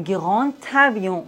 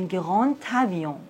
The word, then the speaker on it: grand avion: Dans la liaison, le D se prononce T. Un grand avion.